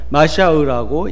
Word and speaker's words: 마샤우: 그러니까 우리는 쉽게 메시아 하지만은, 그러니까 히브리 사람들은 이거를 뭐라고 읽냐면은 마샤우라고 읽는다는 것이죠.